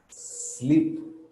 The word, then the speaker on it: sleep: that we are uh for spanish speakers they can be a little bit tricky they can be a little bit difficult to pronounce why because sometimes we we do this stay why not because that's that's spanish in english this is just the s sound sleep storm stay stop so if you notice